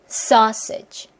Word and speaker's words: sausage: 제일 중요한게 음절의 개수. 지키는 거. 삼음절로 하면 안 된다는 거. 강세 지키는 거. 강세 부분 어떻게 한다? 길게 뱉어 줘야 돼요. 그래서 소세지 이런 느낌이 아니라 sausage 요런 느낌으로 뱉어 주죠.